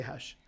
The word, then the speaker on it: Khash: And my own mom says I have trouble pronouncing it, but I say Hesh.